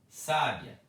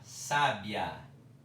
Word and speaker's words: sábia: Então, eu leio sabia, sabiá, sábia. Verbo, substantivo, adjetivo. Sabia, sabiá, sábia. É diferente a pronúncia, é diferente o som, né?